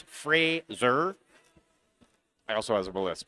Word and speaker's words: Fraser: Apparently I was pronouncing Frazier incorrectly. It's Frazier.